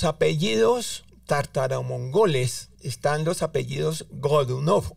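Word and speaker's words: Годунов: En ruso, para dos oyentes, cuando existen varias oes dentro de una palabra, si no está ninguna de ellas acentuada, se pronuncia como a. Entonces es gadunov, o sea, el acento va en la última o y así indicamos para todas las palabras.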